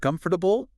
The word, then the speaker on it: comfortable: Try saying it with just three syllables instead of four. Yeah. Ditch that middle one. Get rid of it. So instead of comfortable, go for turbo or QF turbo.